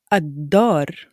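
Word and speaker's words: الدار: Similarly to how I pronounced ad-dar in my previous example, I did not pronounce the lam in al-ta'rif and I put a stress on the dal.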